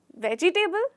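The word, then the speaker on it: vegetable: हैं वेजिटेबल या वेजिटेबल इसका एक्चुअल प्रन है वेजिटेबल क्या वेजिटेबल तो यहां पे वेजटेबल टेबल पूरा नहीं होता आपको समझना है कि आपने थोड़ा सा इसे हल्का सा साइलेंट कर दिया है और आपने बोला है वेजिटेबल वेजिटेबल बोलिए मेरे साथ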